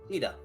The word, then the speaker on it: Tida: Tida. Ida? Tida. Tida. It's based on the Okinawan word for sun, because Yuna is based on a word for moon.